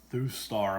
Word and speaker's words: Thustar: purchased this for a buddy looks like it's through star a mantra that's how you pronounce it GSM alarm system got it off